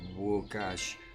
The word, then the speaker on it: Lucas: It's Lucas and you say it like Łukasz.